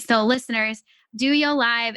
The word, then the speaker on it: DOYO: we actually call it we call it do you live but those people call it dough yo the dough yo one